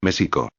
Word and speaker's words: México: Y México no debe pronunciar con J, sino con SH, México.